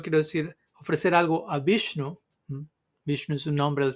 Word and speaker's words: Viṣṇave: llega el turno de vishnu quizá la persona piensa Bueno tengo que decir algo con ya al final también person pero el caso en particular la pronunciación correcta es vish en fin todo esto